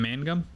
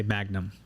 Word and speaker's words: Mangum: Well, it's not hard to pronounce. It's just people want to say Magnum, Yeah.